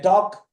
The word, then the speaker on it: talk: When you say talk, L is not pronounced.